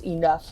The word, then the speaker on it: enough: you do it and why it's not pronounced like a doughnut it's like you know no it's enough why there's no f there you memorize as much